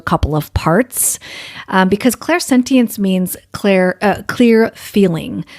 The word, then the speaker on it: clairsentience: of parts um because clairsentience means Claire a clear feeling some people say they pronounce it Claire sentence um so but it